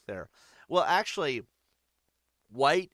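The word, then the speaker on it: Wight: Well, actually, White is spelled in his name, W-I-G-H-T. So it's not really a Caucasian thing, you know what I mean? But I guess in a way it's meant to sound like it is.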